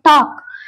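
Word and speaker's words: talk: ಕೊಡುತ್ತದೆ ಟಿಎ ಎಲ್ ಕೆ ಟಾಕ್ ಟಾಕ್ ಅಂದರೆ ಮಾತಾಡುವುದು ಇದರಲ್ಲಿ ಎಲ್ ಸೈಲೆಂಟ್ ಆಗುತ್ತದೆ ಓದುವಾಗ ಟಿಎಎಲ್ ಕೆ ಎಂತೂ ಓದಬೇಕು ಬರೆಯುವಾಗನು ಟಿಎಎಲ್ ಕೆ ಬರೀಬೇಕು ಆದರೆ ಉಚ್ಚಾರಣೆ ಮಾಡುವಾಗ ಇದಕ್ಕೆ ಟಾಕ್ ಎಂದು ಉಚ್ಚಾರಣೆ ಮಾಡಬೇಕು ಶಿ ವಾಸ್ ಟಾಕಿಂಗ್ ಅವಳು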